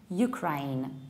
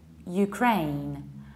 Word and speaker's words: Ukraine: And the neighbor country, I usually hear something like Ukraine, Ukraine, whereas we should say Ukraine, Ukraine. So it happens, you stress the second syllable.